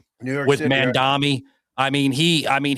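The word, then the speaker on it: Mamdani: How'd you say his name? Mandami. I thought his name was man dummy.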